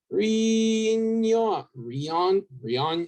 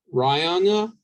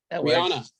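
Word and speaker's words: Rionya: Rion. I don't know how to say her name. Rihanna. Yes, Rihanna.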